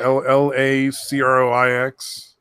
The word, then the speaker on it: LaCroix: Oh, I tried that fucking LaCroix stuff for the first time. That stuff is really good. Yeah. The That what? fruity Lacrosse? seltzer water in a can, LaCroix, LACROIX.